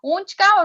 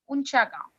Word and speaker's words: Unchagaon: Unchka or Unchgaon, right, Mataji, you said? Unchagaon. Yeah, that's the correct one.